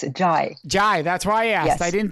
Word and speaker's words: Zhai: Zhai. And is that the correct pronunciation of your last name? It's Zhai.